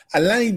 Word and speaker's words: Alain: it's good and alan alain is very complicated alain is complicated in english because the the sound a in french we say